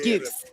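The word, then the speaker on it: Dux: Zeno Hour says it's supposed to be pronounced like Dukes. Dorian Van Dukes.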